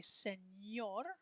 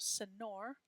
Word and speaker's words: señor: Make sure you're putting that little squiggly line on the ends to make it say señor instead of senor.